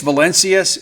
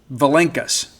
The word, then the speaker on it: Valenkas: His brother Vitas said it's Valencius at Illinois, but it's Valenkas. Thomas Valenkas. I like Tomas Valencius. Like if I went anywhere and my name was spelled like him, I would be Tomas Valencius. Because you never know, right? But it's Thomas Valenkas. That's how he pronounces it.